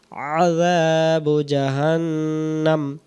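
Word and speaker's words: جهنم: আমি ধরায় দিতেছি এটা আমরা পড়ি রাব্বিহিম হবে জাহান্নাম জাল টান দিতেই হবে জাল যদি কেউ টান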